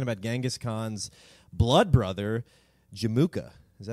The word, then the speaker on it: Jamukha: So we're talking about Genghis Khan's blood brother, Jamukha. Is that how you say it? Jamukha. Jamukha is a good way to say it.